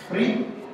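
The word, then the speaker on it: primae: o prato principal né cuidado com a pronúncia aqui Prim tem um a e um e mas em latim que era a língua de Roma a e e juntos tem o som de e Prim né mensa Prim o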